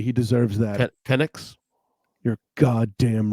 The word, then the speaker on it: Penix: Is it Penix? Say it correctly. He deserves that. Penix?